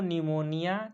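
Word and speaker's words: pneumonia: Pleuro निमोनिया like organism. Pleuro निमोनिया यह P silent हो जाएगा।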